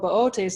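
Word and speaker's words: Boötes: and the reason being why I call it Bootes and not booties is because one of the O's on the constellation has an louse now if I accidentally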